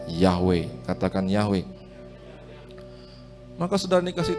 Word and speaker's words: Yahweh: Karena tidak ada huruf hidup, maka kita secara tradisi membacanya Yahweh.